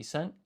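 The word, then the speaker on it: いっせん: So when you want to say 1000, you'd say ichi, which is 1, plus sen, which is 1000. However, to simplify the pronunciation, this is actually isen.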